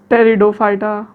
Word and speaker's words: Pteridophyta: टेरिडोफाइटा। P silent है भाई, टेरिडोफाइटा।